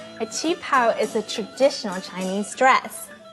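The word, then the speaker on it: qipao: do you say that word again a chi pow is a traditional chinese dress lunar new year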